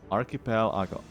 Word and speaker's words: Archipelago: It has a lot to do with the stress of syllables. Pel is stressed and A sounded unstressed.